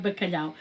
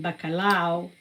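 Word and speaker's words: bacalhau: And I have so much more to say about bakalao. So like I said, balao is spelled with b a c a l h au.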